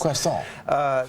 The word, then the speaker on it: croissant: I've been tutored in how to pronounce this. Croissant.